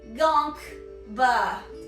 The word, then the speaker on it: Gonkba: Gonkba. Like you get gonked, and then the noise that comes out of you is ba.